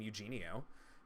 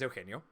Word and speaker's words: Eugenio: i for 30 years let people pronounce my name eugenio uh which is you know not my name uh my name is o'keno but it was easier